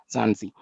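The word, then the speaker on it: Mzansi: Republic ofth Africa and pronounce it like zansi South Africa is located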